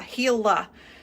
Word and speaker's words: Gila: here pretty quickly um pronounced heels huh didn't know that yeah heela so say h e